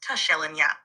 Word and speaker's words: Tishelinya: Your star name is Tishelinya, pronounced Tushelinya.